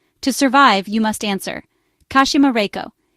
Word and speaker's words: Kashima Reiko: To survive, you must answer, Kashima Reiko. Each syllable must be pronounced correctly. Ka as in mask, Shur as in death, Ma as in demon, Rei as in ghost, and Ko as in accident.